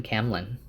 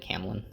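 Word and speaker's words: Caemlyn: might be Camlin but I always called it Camlin so you got to deal with it camelin I always thought of it that way because it's like Camelot Camlin but it is kind of spelled like camelin so whatever um but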